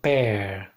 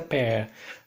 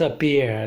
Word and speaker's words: pear: right this is a pear alright it's a pear not appear like some people mispronounce this is a pear